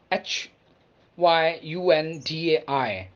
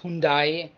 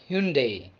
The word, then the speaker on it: Hyundai: mercedes mercedes now we have south korean automaker h y u n d a i not hyundai or day it's hyundai hyundai hyundai one more german automobile company v-o-l-k-s-w-a-g-e-n